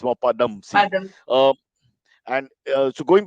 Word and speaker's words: Padamsee: Because many people do the Pad first, but it's more, Padamsee. yeah, it's more Padamsee.